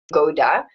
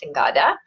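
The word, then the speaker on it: singoda: other things I wanted to mention which is singada I think it's pronounced I was always saying soda but a new client of mine here um corrected me and said it's singada that's SI y n g o d a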